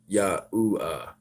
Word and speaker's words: Yahuwah: But no, I'm actually trying to say it's pronounced Yahuwah and Yahusha.